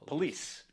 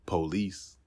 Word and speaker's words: police: this word is pronounced police in aave it's pronounced police actually the man in the recording stresses the second syllable but it's often stressed on the first syllable and as with some